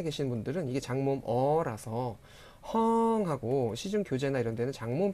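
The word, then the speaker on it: ห้อง: 분들은 이게 장모음 어라서 헝하고 시중 교재나 이런 데는 장모음 표기가 돼 있는데요. 실제 발음은 짧게 하셔야 됩니다. 그래서 짧게 헝 하셔야 돼요.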